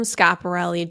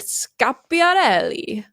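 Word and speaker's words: Schiaparelli: for this episode and some man from pronunciation. org said it's in Italian you pronounce it scapi so anyway okay I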